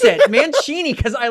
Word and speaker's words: Mancini: No, it's Mancini because it's like Italian. I'm pretty sure it's Mancini. That's how I pronounce it, Mancini, because I like Italian.